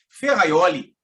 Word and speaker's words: Ferrajoli: Você já leu ferraioli se escreve a High Jolie e pronúncia Luigi ferrajoli dentre outras é lembre